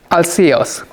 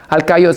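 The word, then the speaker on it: Alcaeus: from the Encyclopedia Britannica you can also found alcios pronounced as alcaios is a more Greek pronunciation instead I'll see you since a more English pronunciation I'll see us was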